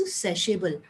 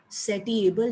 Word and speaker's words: satiable: एक फर्स्ट है each particular want is सेशेबल, एक वर्ड दिया हुआ ना SATIABLE, सेटिएबल नहीं कहना उसको, दैट इज प्रोनाउंस्ड एज सेशेबल, से सेशेबल, ठीक है।